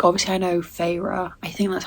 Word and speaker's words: Feyre: And I think also because I took a break, characters, like obviously I know Feyre, I think that's how you say her name, Feyre.